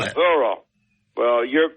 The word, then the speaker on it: Missouri: Mizzouah. He lived out there. It's M-A-Z-Z. That ain't how you spell it. Missouri.